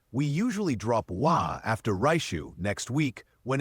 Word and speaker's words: 来週: Like when you're speaking Japanese, the R is kind of like an RL mix. So he's always going to pronounce that very American R, raishu, which like you could take it for what it's worth.